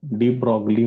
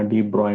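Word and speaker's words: de Broglie: डी ब्रॉगली म्हणा, डी ब्रॉय म्हणा, चालतंय, काय अडचण नाही. स्पेलिंग प्रमाणे शक्यतो करून उच्चार करा, म्हणजे तुम्हाला स्पेलिंग लिहिताना काही प्रॉब्लेम येणार नाही.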